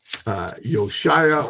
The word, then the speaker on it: Yeshua: You can clearly see that it says, and you shall call his name Yeshua, for he will, Yoshia, or some people pronounce it a little bit different.